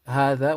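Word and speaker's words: هٰذَا: small alif okay so when you spell how that when you write it out make sure you write it without the alif and there's only one alif after the devil and when you pronounce it make sure you read it with the alif you pronounce the ha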